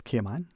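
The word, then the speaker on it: Caymanian: apology when I say the word is kman that's how you say it when a dish that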